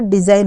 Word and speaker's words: design: का लिखना होगा तो DESIGN लिखना है तो यहाँ पर डिज़ाइन हो गया, यानी कि एन से पहले जी आया है तो वो साइलेंट हो गया।